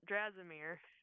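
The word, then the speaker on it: Dimir: extra help so if I bring in uh dmir right uh that that is how you pronounce it yes if you ask if if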